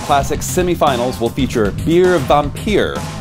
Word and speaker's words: Vampir: The Headis Las Vegas Classic semifinals will feature Beer Vampir, pronounced vampire in English, but only rhymes in German, so we'll stick to German, Sniper Schorsch, Petty Potter, and Rolly the Butcher.